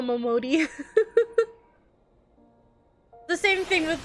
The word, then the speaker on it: Momodi: Mom Modi. It's Mama Momodi.